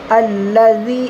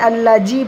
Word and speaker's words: الذي: আল্লাযী, এখানে আল্লাজি পড়বো না, আল্লাযী। জালের উচ্চারণ কিভাবে হবে? জিভের ডগটা একটুখানি বের করে অপরের দাঁতের সাথে মিলাতে হবে একটু, আল্লাযী।